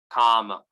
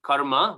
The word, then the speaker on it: kama: So text 36 to 43, the conclusion of the third chapter, it can all be summed up in one word, kama. Not karma, but kama, right?